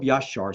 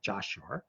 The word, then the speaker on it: Yashar: And we have a book of Yashar, spelled with a J, Jashar, that's available today.